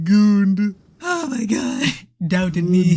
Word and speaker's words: Gund: That is, it's spelled G-U-N-D, but it's pronounced goond.